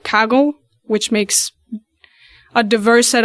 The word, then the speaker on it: Kaggle: have a lot of tools right now like kagle which makes a diverse set of data sets